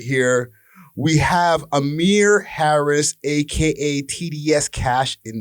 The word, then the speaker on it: Amryh: We have Amryh Harris, a.k.a. TDS Kash, in the mother effing building. And I pronounced that right, Amryh? What up? Yeah, you did. That was right.